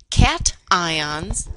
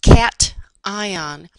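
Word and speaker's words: cation: Cat ions are positive. I know that word looks like cash, but it's pronounced cat ion.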